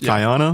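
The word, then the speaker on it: Guyana: settlement called Jonestown in Guana South America is that how you say it yes Gana Gana I've heard Gana most of the time all right Guana South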